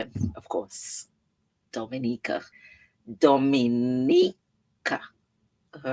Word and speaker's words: Dominica: oh we calling Dominican it is spelled D o m i n i c a it is not Dominican Republic it is pronounced Dominica and is situated between